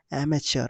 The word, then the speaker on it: amateur: बोलेंगे स्पेलिंग, ठीक है, इसका प्रोनाउंसिएशन होगा एमेच्योर, ऐसे एमेच्योर, याद रखना, कहीं भी पूछ सकता है।